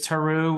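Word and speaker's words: Tarrou: Is it called Taru? Is that how you pronounce his name? I think that's how I'm pronouncing it. Alan? That's how Bancroft pronounces it. It's Taru.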